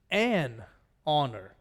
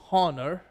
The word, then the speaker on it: honor: this really should be a honor it is an honor why because we don't pronounce it honor we pronounce it honor so this is something we need to remember